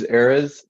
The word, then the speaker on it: Erez: Yeah, my name's Erez. It's pronounced like Arizona without the ona. It means Okay. cedar tree of Lebanon. It's a Oh. Hebrew name. Oh, nice. Erez.